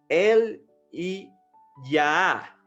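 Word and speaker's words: אליהו: Mira, el nombre de Elías es en hebreo y su pronunciación más o menos sería así: El y Yah, que significa Yah o Jehová es él.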